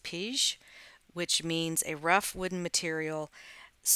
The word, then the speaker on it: pij: Just a little bit of trivia: the name pea comes from the Dutch word pij, which I think it's pronounced pige, which means a rough wooden material.